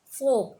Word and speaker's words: folk: Folk, FOLK, folk. FOLK, folk. FOLK, folk. Means people. Okay. Children, in this word, L is silent.